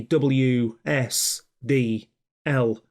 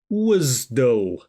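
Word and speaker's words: WSDL: I think it's more important before then to pronounce it properly if you were to say WS L on a project people will think you're a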